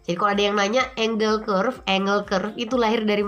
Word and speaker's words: Engel: Engel innopark Angle ya Jadi kami dia bacanya biasanya Angle ya karena kalau mau Angle kayaknya aneh gitu ya jadi apa sih kurva